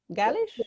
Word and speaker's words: Gaelic: गैलिश, am I pronouncing correct? Galish? That's right.